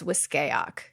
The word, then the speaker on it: Wiskayak: Also, I just want to quickly point out, we finally have a canonical pronunciation of the town. We've pronounced it a couple of different ways. Misty or someone says it here as Wiskayak. Like Wiskayak.